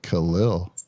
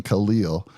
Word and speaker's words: Khalil: in but Khalil and I'm going to say his name right Khalil and that's the right way to say it stop saying Khalil just found that out